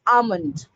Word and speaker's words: almond: It's almond. It's almond. You call it as buri, right? It's pronounced as brie.